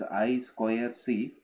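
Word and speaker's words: I²C: serial interface like I2C, pronounced as I square C.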